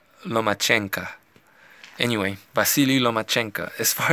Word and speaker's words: Lomachenko: name correctly it's not lo min Qiang qu it's not lo mo it's not luma chinko from what I heard it's no match ANCA anyway Vasily lomachenko as